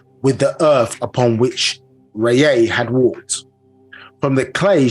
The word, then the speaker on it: Ra: Yeah, so Ra, but pronounced Rayay properly.